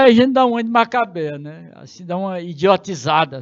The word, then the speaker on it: Macabeia: Vou botar um acento para melhorar a pronúncia. Né? É o caso de Léo. Está lá o acento só para dizer que o E é aberto. Né? É a Macabeia.